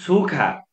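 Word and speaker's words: 축하: अनि छुखा, छुखा, अब यहाँ पनि ग र ह मिक्स भएको छ, गको उच्चारण ख भयो, ह चाहिँ साइलेन्ट भयो।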